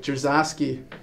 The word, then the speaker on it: Dzierzawski: And for the knowledge of the Peterhead fans, your pronunciation of your second name is? Dzierzawski.